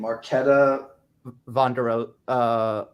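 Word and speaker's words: Markéta Vondroušová: Dude, how do you pronounce that name? Marketa Vondrusova. Oh yeah, Vandershrova.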